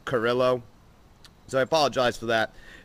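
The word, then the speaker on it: Carrillo: to her nest oh I believe I pronounced his last name wrong believe it's pronounced Carillo so I apologize for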